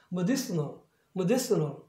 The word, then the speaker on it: medicinal: 그래서 아까 메르슨 하던 것이 이제는 머디 이렇게 해요. medicinal 이렇게 액센트 위치가 바뀜으로써 더 이상 플랩으로 할 수가 없어요.